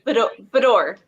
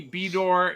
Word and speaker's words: Bador: It's Bador. Bador. Because it could be Bedor, it could be Bedor. That's how. So the men in our family pronounce it Bedor, and the women in the family pronounce it Bador. I don't know. There you go. There you go. Bedor. Welcome. Better. Bador. Bador. Yeah, it's fine. Bedor. Like fedora Bedor. without the A and the F, right?